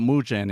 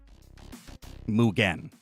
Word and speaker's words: Mugen: That's what mujen is, right? Mugen. I should I should say it like that.